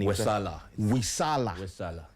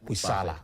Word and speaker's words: Wesaala: Brian, I'm still struggling to pronounce the saying. Wesaala. Yeah. Wesaala.